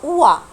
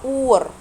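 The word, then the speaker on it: Ohr: المفروض النطق الصح بتاع الكلمه دي تبقى اوع. اوع، عشان مش انطق حرف الهاء عشان قبلها فوكال، وحرف الار جاي في اخر الكلمه وكمان المفروض ما انطقهوش.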